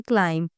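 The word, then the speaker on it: climb: तो यहां हम इसे पढ़ते हैं क्लाइम। बी को यहां नहीं पढ़ते।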